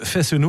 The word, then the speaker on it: Fesneau: pas loin alors marque faith no more oui je prononce toutes les lettres comme je sais me